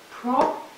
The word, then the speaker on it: project: But if you turn it the other way around and put the stress on the first, then you get project.